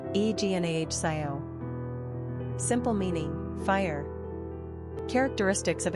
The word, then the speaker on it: Ignacio: Number of syllables, 3. Ranking popularity, 952. Pronunciation, Ignahcio.